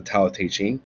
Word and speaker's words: Tao Te Ching: He's the one that wrote the Tao Te Ching, or the Classic of the Way, and its power. That's the way it's pronounced, translated, the Tao Te Ching.